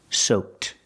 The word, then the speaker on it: soaked: say they are soaked using Ed D pronounced with a t sound soaked he is completely soaked